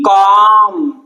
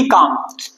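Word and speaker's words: calm: B quite और बी बी कॉम। बी काम कि सी ए एल एम काम ठीक है ये एल साइलेंट है हमारे पास यहां पे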